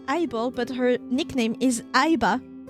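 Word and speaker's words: AI-Ball: And her name is AI Ball because it's an eyeball. So, you pronounce it eyeball.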